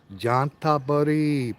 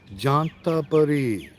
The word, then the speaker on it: Chanthaburi: So if you think of the name John, this is really the way you pronounce this province. It's not ch, it's j like a J. Jantaburi.